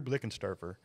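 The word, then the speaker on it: Blickensderfer: But I'm telling you, Drew Blickensturfer, if that's how you say it. Hey, that's it. You nailed it.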